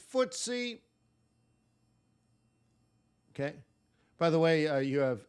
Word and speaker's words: FTSE: Times stock exchange so ftse it's easier to spell if you know what it stands for uh but footsie yeah that's how you would spell it but it's an acronym